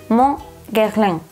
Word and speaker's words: Mon Guerlain: Me cuesta horrores, barbaridades decir esto en francés con la pronunciación correcta. Mon Guerlain.